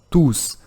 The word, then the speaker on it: tous: Se for um pronome, eu tenho que utilizar o tus. Se não for um pronome, eu tenho que falar tu. Ah, tudo bem, mas Eric, não tem outro jeito? Ah, algumas pessoas falam que quando tem uma vogal após o tu, ou que ele finaliza uma frase, a gente pode falar o tus. Quando ele vai acompanhado de uma consoante, a gente fala o tu. Portanto, sem o S.